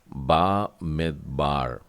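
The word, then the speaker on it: במדבר: में द है, और उसके बाद में बार, तो ये हो जाएगा बा मिदबार।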